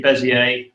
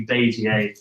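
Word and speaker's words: Bézier: what called bas um I always probably pronounce this wrong. I say bezier. I think it's meant to be basier. Don't know any French speakers here. Okay. Okay. I'm going to be pronouncing it bezier. Apologies if that's incorrect.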